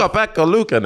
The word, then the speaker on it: Ukko-Pekka Luukkonen: Yeah, I can actually pronounce his name. You're saying his name. Hey, you're just showing off. Ukko-Pekka Luukkonen.